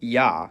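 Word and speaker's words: Я: It's called yah. And as its name suggests, in most cases, it sounds like yah. However, when it comes after a soft consonant, which is a consonant pronounced with a tongue close to or touching the roof of the mouth, the y is dropped and it's pronounced as a.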